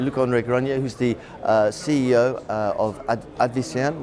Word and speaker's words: Luc-André Granier: Yeah, I had to get the pronunciation. Luc-André Granier, who's the CEO of Advicenne, which is a Nimes, France-based company.